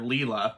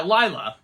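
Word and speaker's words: Lylla: I like the otter Leela who uh we were no yeah yeah Lila yeah I mispronounced her name yeah there we go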